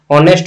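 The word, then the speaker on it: honest: पे ए दीजिएगा, नहीं, क्योंकि ये ऑनेस्ट जो है ओ का उच्चारण देता है, भले ये एच लिखा जा रहा है, ऑनेस्ट हो गया, ऑनर हो गया, ठीक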